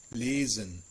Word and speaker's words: lesen: The most complicated is actually the letter S. It is pronounced like a voiced sibilant, the Z sound, if it is followed by a vowel.